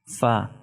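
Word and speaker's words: ف: Fa is pronounced when you touch the edge of the incisor 2 teeth on the lower lip.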